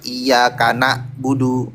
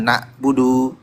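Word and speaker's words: إياك نعبد: Iya kana budu. Bukan nabudu tapi na.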